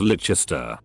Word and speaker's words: Leicester: The teacher tried to get us to sing So Long to Leicester Square is Leicester. I told her how to pronounce it and she sneered at me.